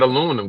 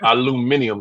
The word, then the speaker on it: aluminium: Man, look, that aluminum get hot. That aluminium gets hot. Aluminium. That's the actual pronunciation of the word.